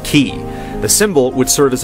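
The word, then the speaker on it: χ: The letter X represents the Greek symbol for Kai, which in the Kingdom Heart series is pronounced as key.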